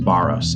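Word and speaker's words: βάρος: underneath it the greek word there is actually pronounced baros and the the mental image that it's trying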